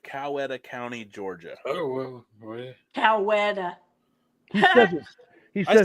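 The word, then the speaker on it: Coweta: Cowetta.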